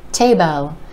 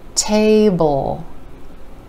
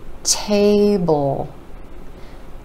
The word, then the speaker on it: table: be pronounced as table Tabo with that short e sound sneaking in there we want to pull that sound out and think of smashing the book and the OL right together bull bowl table table set the table